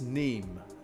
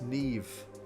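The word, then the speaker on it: Niamh: That's Neem. No, it's Neve. How is that Neve?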